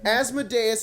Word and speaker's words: Asmodeus: davey chappie suck it it's not just asmodeus is correct thank you z all